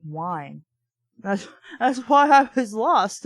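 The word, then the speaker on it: Wyen: I didn't realize Wynn was supposed to be pronounced like wine.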